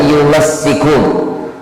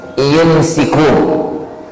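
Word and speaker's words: يُمَسِّكُونَ: Bitasydid itu bacanya yumassikun, shinnya itu ditasydid. Kalau bitakhfif bacanya yumsikun.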